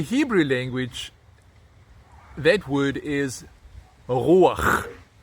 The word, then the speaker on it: רוח: In the Hebrew language, that word is ruach. Some pronounce it with a hard r, ruach, okay?